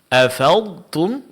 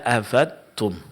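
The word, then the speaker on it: أفضتم: pembahasan tentang makharijul huruf seperti afadtum dibaca afadum. Afadtum ya di situ ada bunyi ad ini yang disebut dengan sifat istitalah. Ketika dia dihilangkan tidak dipraktikkan maka dia akan mirip dengan huruf dal afum. Maka di sini huruf dad berubah menjadi huruf dal. Dan ini adalah suatu kesalahan ya.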